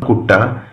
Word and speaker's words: കുട്ട: കുട്ട, കുട്ട എന്ന് നമ്മൾ എഴുതുമെങ്കിലും അതിൻ്റെ ഉച്ചാരണം കൊട്ട എന്നാണ്.